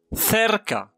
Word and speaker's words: cerca: أعيد، ننطقه C إذا كان بعده A أو E. مثلا cerca، cerca وتعني قربة، cerca قربة. كذلك cita، cita موعد، موعد. كما لاحظتم في هذا المثال نطقناه c وليس ك.